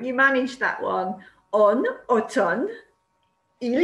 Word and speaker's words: automne: En automne, il y a du vent. En automne, il y a du vent. Did you remember to pronounce the letter N and not the letter M? En automne, il y a du vent.